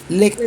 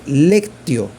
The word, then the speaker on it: lectio: Lectura, Lectio. meditación, oración. Ok, voy para allá. Se dice así. Déjate buscar aquí. Ajá. Lectura se dice lectio, con C. Lectio.